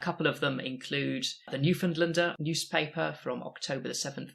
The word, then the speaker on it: Newfoundlander: Just as a bonus content for anyone who gets this far, it's the Newfoundlander.